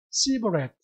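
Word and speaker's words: סיבולת: 에브라임 사람들은 이 SH 발음, 숲이라는 발음을 S 발음으로 발음을 했어요. C 발음이에요. C 발음. 그러니까 슈플렛 이거를 어떻게 발음했어요? 시브렛.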